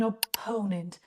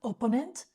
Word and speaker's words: opponent: way what is an opponent careful with the pronunciation please it's not opponent no it's opponent opponent an opponent in